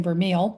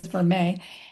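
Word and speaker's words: vermeil: So, that's v e r m i l which I've always been pronouncing vermile, but I think it is verme.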